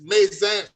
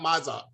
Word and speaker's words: Maan: and just a clarification it's Maan Street not Maza it's Maan okay that's the pronunciation and ala we we